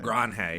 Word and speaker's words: LeMahieu: LeMahieu, yeah.